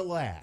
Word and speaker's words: Loesch: it's Dana Lash. Oh, it's spelt Loesch. Yeah, I Okay. know. It's She's a Loesch. Like Roach. It's spelled like Roach.